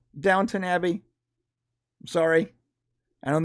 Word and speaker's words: Downton: It's Downton. Whatever. Right, but we have like 125 comments about the mispronunciation of Downton Abbey. Downtown Abbey.